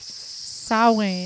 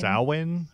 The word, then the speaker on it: Samhain: We now know it is Samhain. Samhain is how you say Samhain. Yeah. Thank you to everybody who told us. We appreciate it. Samhain, I think. Yep. So good job, guys. Definitely not like it's spelled.